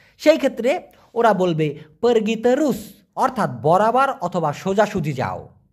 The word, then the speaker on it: terus: করছেন, আসসালামু আলাইকুম ভাইজান, তেরস অথবা লুরুস দুইটা বাংলা অর্থ কি হবে? এখানে মূলত সঠিক উচ্চারণটা হবে তেরুস, TERUS। টি যেহেতু ওরা তয়ের মতো উচ্চারণ করে, TE তে, RU রু, এসকে উচ্চারণ করে স, এই জন্য তেরুস মানে হচ্ছে সোজাসুজি অথবা বরাবর।